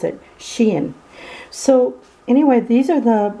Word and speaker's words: Shein: the sheen hey and i learned how to pronounce it she in so anyway these are the the plastic fingernails